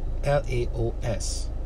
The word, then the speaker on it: Laos: the spelling is hello l-a-o-s which implies Laos but most ties and most are lotions they just call it Lao there's no s so maybe it's just